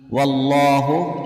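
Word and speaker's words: وَاللّٰهُ: namun sebaiknya berhenti wallahu lafadz Allah dengan tebal karena huruf sebelumnya yaitu Waw berharakat fathah kemudian ghofurun hukum bacaan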